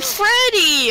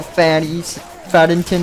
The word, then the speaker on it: Faddington: It's Principal Freddy! Oh my god, get no, it right. No, you guys don't even know how to pronounce my name. It's Principal Faddington the Third.